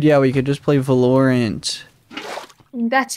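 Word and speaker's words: Valorant: are probably dude yeah we could just play velorent that's how you pronounce it yep guys what game should we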